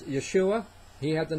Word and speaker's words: Yeshua: Okay, and by the way, it's Yeshua.